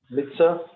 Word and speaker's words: mitzvah: First is mem. Under mem is hirek. So it will be me. Yeah. Mitzvah. Mitzvah.